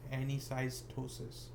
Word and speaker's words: anisocytosis: i say this word the way i pronounce it is just any size ptosis so that's how you